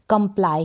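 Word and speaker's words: comply: और पी एल को प्ल और वाई को आई पढ़ेंगे, कंप्लाई, क्या बन गया कंप्लाई, कंप्लाई। कंप्लाई का मतलब है आज्ञा पालन करना, कंप्लाई, कंप्ली पढ़ देंगे अगर आपने कभी प्रोनाउंसिएशन नहीं किया होगा।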